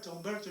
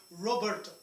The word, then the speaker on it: Humberto: She couldn't pronounce my name at all, Humberto, she would say Roberto.